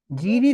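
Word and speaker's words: zehn: For example वो क्या था, जैन। जेन, ठीक है, इसमें क्या है, एच साइलेंट है, जेन, ये बीच में कहीं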